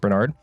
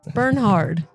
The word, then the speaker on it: Bernhard: heard from before Bernard um you said my name wrong no I didn't Bernhard Bernhard Bern hard burn hard whatever I heard Bernard